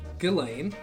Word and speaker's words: Ghislaine: It's Ghislaine.